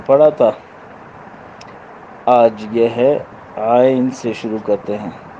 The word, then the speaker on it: عین: شروع کرتے ہیں۔ عین، اس میں غنّے سے اپنے کو بچانا ہے، عین۔ اور یہاں بعض اوقات عین کے تلفظ میں یا کو جھٹکا دیا جاتا ہے، عین غین، تو یا کو حرکت سے بچائیں گے، یا نون دونوں ساکن، عین غین، عین جیم،